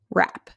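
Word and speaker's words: wrap: these our first where does rap say it rap good wrote wrote rec fed's rec excellent okay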